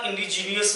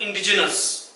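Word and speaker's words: indigenous: क्यों जाता है स्टूडेंट्स, एग्जैक्ट प्रोनाउंसिएशन इसका इंडिजीनियस नहीं है, याद रखना। इसका एग्जैक्ट प्रोनाउंसिएशन होता है इंडिजिनस। क्या होता है, इंडिजिनस। हम बोलते क्या है, इंडिजीनियस बोलते हैं उसको, हम अननेसेसरी का आयन के बाद में प्रेशर पुट अप करते हैं।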